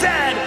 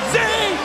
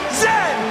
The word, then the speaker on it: Z: AND IT IS PRONOUNCED ZED, NOT ZEE. ZED.